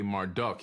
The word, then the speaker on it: Marduk: shitu after the great flood Aman raah AKA Marduk he's known as Marduk in the Bible m-